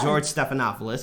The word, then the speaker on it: Stephanopoulos: friend George snuffleupagus or George Stephanopoulos he's the host of ABC this wait is that how you actually say it yeah that is actually how you say his name and we're gonna play